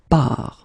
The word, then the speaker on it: pars: So the first form will be je pars, okay? Remember, you put this S, you don't pronounce it.